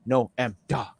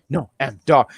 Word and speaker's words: Noam Dar: So as I was sitting there not pronouncing his name right for so many weeks, I said, Noam Dar, Noam Dar.